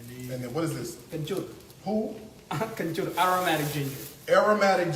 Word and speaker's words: kencur: Kencur. Who? Kencur. Aromatic ginger. Aromatic ginger. Aromatic ginger. Say it again. Aromatic. No. Say it in this. Kencur. Injur. Kencur. How you spell it? K-E. Oh, Ken. Kencur. Kenchur.